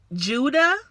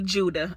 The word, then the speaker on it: Judah: Her name gonna be Judah, okay? It's easy to pronounce. It's 2 syllables. You should not mess this name up. Judah.